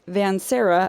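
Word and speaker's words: Vanserra: So for our listeners, Vansera of the greenhouse is Lucian's last name. Right. And it's spelled Serra.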